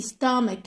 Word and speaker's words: stomach: I have a stomach. هذه تنطق ك. ك. C-H هذه تنطق stomach ache. I have a stomach ache.